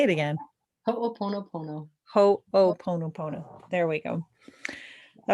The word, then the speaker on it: Ho'oponopono: Ho'oponopono. Say it again. Ho'oponopono.